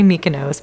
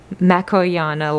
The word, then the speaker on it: makoyana: I think this one's, I always say it wrong, I say Mykonos, but that's Makoyana Large 1698 for that beautiful calathea.